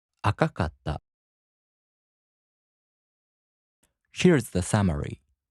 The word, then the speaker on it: 赤かった: For example, 赤い turns into 赤かった, so the accent falls on か. 赤かった.